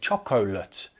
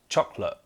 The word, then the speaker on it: chocolate: of those syllables, but actually we say it really fast. Chocolate, chocolate, chocolate, chocolate. Some people with an accent can say lit, chocolate, chocolate. I actually say the sound like a schwa sound, chocolate, chocolate. I do not say chocolate. That sounds very funny to me, very strange. Just 2 syllables here, chocolate.